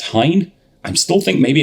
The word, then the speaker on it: Hine: as Taran knows I never know how to pronounce apparently according to the local rep at least it's Hine I'm still think maybe it's Heen or I I don't know it's definitely not